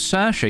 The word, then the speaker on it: Saoirse: No, in truth, I do have a lot of trouble pronouncing names. Saoirse, yeah, Saoirse, no problem.